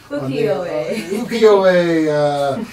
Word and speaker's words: Ukiyo-e: Ukiyo, our Mr. Producer will put it on the... Ukiyo-e.